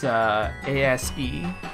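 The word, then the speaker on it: Aseprite: I use I think it's called Asprite, but I keep pronouncing it as Asprite. It's Asprite.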